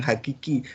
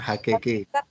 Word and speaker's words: hakiki: Ya, adanya sesuatu yang hakiki. Kebenaran itu hakiki, bukan hakeke.